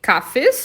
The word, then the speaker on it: Kaffees: E o plural é die Kaffees ou die Cafés, com S no final.